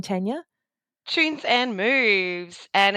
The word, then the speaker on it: Choons: And just while we're here, your business name, Tanya, Tunes and Moves. And it's spelled as in tunes like C H O Ns.